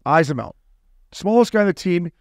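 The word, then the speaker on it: Eyssimont: Yeah, well, Ismount. Ismount.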